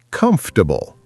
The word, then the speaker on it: comfortable: When you say comfortable, do you pronounce every syllable? No, I learned native speakers say comfortable.